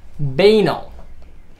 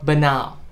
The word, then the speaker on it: banal: okay here it is baino or banao whichever pronunciation you like b-a-n-a-l i think it's